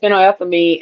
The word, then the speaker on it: phenylethylamine: is it fin la how that fin la phenylethylamine. That's what yeah, that looks like. yeah, Phenylethylamine. yep. Okay, And that puts the so is the that is love. one. Yeah, it contains compounds like phenylethylamine and trip, tryptophan, which trigger feelings of pleasure,